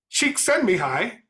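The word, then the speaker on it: Csikszentmihalyi: still good for which is being able to pronounce people's names so mihai cheek send me hi is the author of a book called flow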